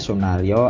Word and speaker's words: Sunarjo: Ini masih ejaan lama ya, kita membacanya Sunaryo Atmodipurwo.